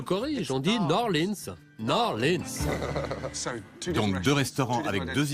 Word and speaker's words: New Orleans: La Nouvelle-Orléans, c'est jeune, c'est tendance. New Orleans, chef. New Orleans. Pas Nouvelle-Orléans. Non, d'accord. Ici, ça se prononce New Orleans.